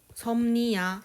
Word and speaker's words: 섭리: 섭리. 그게 자연의 섭리야. 어떻게 발음되죠? 섭니야. 이렇게 발음되지 않나요? 그렇죠.